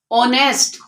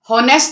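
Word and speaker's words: honest: इसी तरह ये हम इस वर्ड को क्या पढ़ते हैं, ऑनेस्ट। हॉनेस्ट तो हम नहीं पढ़ते ना कि हम इसकी एच की साउंड ही नहीं है इसमें, हम इसको ऑनेस्ट पढ़ते हैं। इसमें जो एच है इसमें भी साइलेंट है, तो इन दोनों वर्ड्स को हम आवर, ऑनेस्ट इस तरह से पढ़ते हैं।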